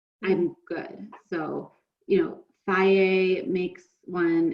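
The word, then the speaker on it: Fage: So, you know, Faye makes one, it's spelled F-A-G-E. Took me maybe 5 years to learn how to pronounce that.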